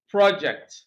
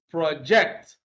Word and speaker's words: project: a piece of work undertaking their stresses on the first syllable project now if we use the same word as a verb to mean you know to communicate clearly then stress is on the second syllable project so you have projects